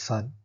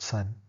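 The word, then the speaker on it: 三: and purely symbolic manner this is Sun s-a-n the tone is high flat Sun I won't be bothering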